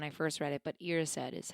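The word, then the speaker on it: Erised: I used to say arised. Mirror of arised. That's what I read when I first read it. But irraised is how it's pronounced.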